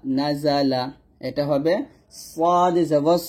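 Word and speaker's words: نَزَلَ: এটা হবে নুন জবর না, জা জবর জা, লাম জবর লা, নাজালা।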